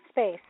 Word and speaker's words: SBVCE: Space. Space is how you say it. Okay, yeah, you spelled it a totally different way. Yeah, it's like SBVCE, but Space is how you say it, yeah.